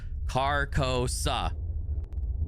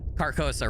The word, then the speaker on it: Carcosa: I know someone's going to say I'm pronouncing that wrong. I looked it up again before stream just to make sense. It is Carcosa. So I'm saying it right.